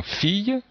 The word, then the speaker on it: fille: par exemple ici dans fille, donc le i, deux l, les deux l se prononcent ye, fille, ou même pied,